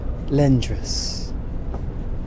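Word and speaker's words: Lehndrys: struggle to pronounce it the closest would be lendras the quiet l-e-h-n-d-r-y-s l-e-h-n-d-r-y-s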